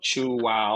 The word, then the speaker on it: Chuao: in the united states putting three vowels together was so hard you know chu wa or like luau so what can be